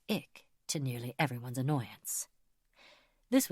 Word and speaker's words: IC: A corrections officer had looked everything over and fed copies into the great bureaucratic machine that was IC, pronounced Ick, to nearly everyone's annoyance.